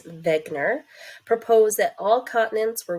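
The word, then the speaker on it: Wegener: looks like Wagner but he was from Germany so we pronounce his last name as Wegner proposed that all continents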